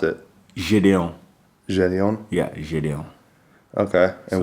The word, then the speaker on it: Gideon: But the pronunciation Gideon, it's French, like pretty much.